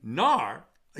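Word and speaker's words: נערה: woman who is raped, it's written nar, a young man who is raped, but it's not. It's talking about a young woman, and we pronounce it nara.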